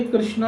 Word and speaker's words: कृष्ण: भाव ग्राह्य, पर उच्चारण सही होना चाहिए, कहने का भाव है, ठीक है। तो इस प्रकार से कृष्णा नाम द्रौपदी का है।